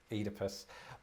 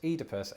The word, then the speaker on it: Oedipus: Oedipus. But I, as you heard there, pronounce this Oedipus, and you pronounce it. Oedipus.